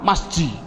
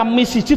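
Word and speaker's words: مسجد: Adapun depan ada tulisan mim sim jim dal, bacanya apa? Masjid. Mengapa kok dibaca masjid? Mbok dibaca misjid saja.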